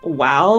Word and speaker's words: Mhaol: pronounce your character's name my character's name is pronounced wow with like a w and like an ow sound at the Bas um